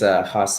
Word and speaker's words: Hoss: My name is Haas. I'm the owner of Dojos, Brazilian Jiu-Jitsu, and kickboxing. The R is pronounced like an H.